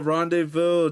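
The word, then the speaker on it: rendezvous: The Z and the final S are silent. Ah, you Oh, I overthought it. I overthought it. The Z and S is Oh, no. Rende Vu, they're silent.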